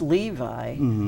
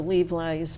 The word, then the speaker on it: Levi: And I always thought that name was pronounced Levi, you know, kind of like the Levi's blue jeans or something like that. And you explained that actually it's pronounced Levi.